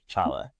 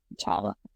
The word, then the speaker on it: Chala: Basically think of T'Challa, because that's what I kept wondering, like, is this supposed to sound like T'Challa? But yeah, you Yeah. pronounce it just like Chala. Chala.